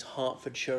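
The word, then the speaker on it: Hertfordshire: more examples that with the English counties hartfordshire and Berkshire in both cases the e is pronounced as an A just to be difficult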